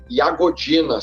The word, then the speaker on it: Jagodina: que é na cidade de iagodina se escreve jagodina né e no interior da